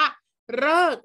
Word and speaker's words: ฤกษ์: เดียว อัน นี้ คะ คือ คำ ว่า ฤกษ์ นะ คะ ตัว รึ นะ คะ กอ ไก่ สอ รือ สี กะลา เรา อ่าน ว่า เลิก นะ คะ หา ฉัน